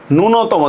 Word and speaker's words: ন্যূনতম: শব্দের শুরুতে জ ফলার সাথে রস্ব উচ্চারণ থাকলে জ ফলার উচ্চারণ হয় না।